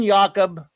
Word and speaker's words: Jacob: you Benjamin yakob actually let me pronounce it properly since he's a Jewish character yeah Benjamin yakob Grim but would be Benjamin